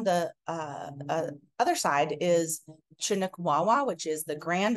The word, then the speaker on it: Chinook: in the past about why do you say Chinook instead of Chinook so I've put in this slide in the middle that shows uh the Chinook Nation quite clearly set shows how to pronounce it with a hard CH sound like in chin or chipmunk monk or church rather than a sha sound this is a 1900